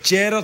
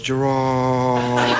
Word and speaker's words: Gerard: In Scotland, it's Gerard. Gerard. It's like Gerard. Gerard. It's the emphasis on the first part, but here in America, it's Gerard, and it goes Gerard.